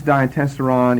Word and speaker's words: Diatessaron: That we pronounce now in English the diatessaron.